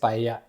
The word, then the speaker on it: paella: They don't say we Paella. say paella, but a lot of Americans they say paella. It's paella. Anyway, the paella it comes